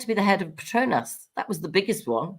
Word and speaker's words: Petronas: Is it spelled like P-E-T-R-N? Petronas, Petronas. Like petrol.